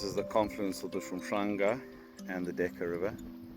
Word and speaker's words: Hwange: Hwange, Reed River.